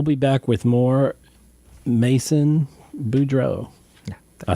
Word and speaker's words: Boudreau: So we'll be back with more Mason Boudreau.